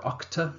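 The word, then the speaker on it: UCTA: be dealing here with the unfair contract terms act or octa as i'll be pronouncing it throughout the remainder of this video but do be aware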